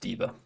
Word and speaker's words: deva: I want to see if I'm pronouncing that right. The Deva. Okay, it is just Diva.